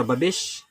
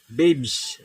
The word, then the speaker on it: Babes: Correction po sa Babis. Alright. Ito pala yung tamang pronounce nito. Babes.